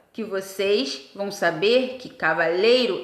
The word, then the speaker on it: cavalheiro: não são tá bom na verdade elas são paroxítonas a sílaba tônica é a penúltima cavaleiro e cavalheiro tá é o e